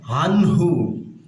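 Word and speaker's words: عَنْهُ: আনহু, আইন নুন জবর আন হু, এখানে নুন সাকিনের পরে ইজহারের হরফ হা আসছে, এই জন্য গুন্না ছাড়া স্পষ্ট করে পড়বো আনহু।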